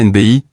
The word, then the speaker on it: Nebchi: Sliman Nepschi prononcé Sliman NBI né le octobre 1989 que le monde entier connaît sous le simple nom de Sliman n'est pas seulement un artiste.